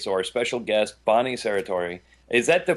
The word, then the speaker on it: Serratore: You're listening to Psychic Viewpoint, and so our special guest, Bonnie Serratore. Is that the correct pronunciation, Bonnie?